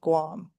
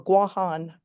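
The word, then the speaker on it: Guåhan: the island of Guam, the territory of of Guam or Guan as it should be pronounced.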